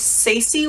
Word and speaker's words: Saci: these books both is Saci I believe it's say-see Lloyd it's pronounced S-a-c-i L-l-o-y-d